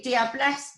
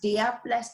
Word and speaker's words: Diablesse: So You could say Diablesse, Diablesse, Diablesse. It's up to you, as long as it gets the point across.